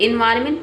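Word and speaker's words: environment: एनवायरमेंट don't forget the silent N. यानी कि एन जो है ये साइलेंट रहता है आफ्टर ओ।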